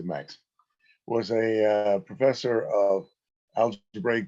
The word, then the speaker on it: Max: Ida and Max I I should try and pronounce that in the German Way MOX daa but I think I'll stick to Max was a professor of